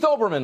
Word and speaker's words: Olbermann: many adjectives mr keith olbermann ladies and gentlemen and keep in mind the l is silent but it was too